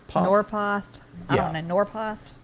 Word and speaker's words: Norpoth: Hillman North, you pronounce that Northport? Norpoth.